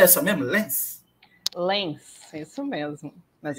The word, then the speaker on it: Lenz: A pronúncia é essa mesmo, Lenz?